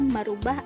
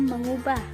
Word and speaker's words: mengubah: Yang kedelapan ada kata merubah ataukah mengubah. Seharusnya ditulis dan diucapkan mengubah karena asal katanya ubah dan bukan rubah.